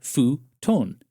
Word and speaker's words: futon: And it would be pronounced in Japan. Futon.